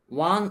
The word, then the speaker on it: one: ওয়ান eyed man, ওয়ান eyed man, এটা ওয়া উচ্চারণ, ওয়ান আইড ম্যান।